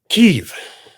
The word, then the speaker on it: Kyiv: Kyiv. How you pronounce it?